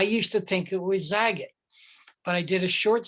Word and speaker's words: Zagat: whose name that is said it is pronounced as that to rhyme with the cat.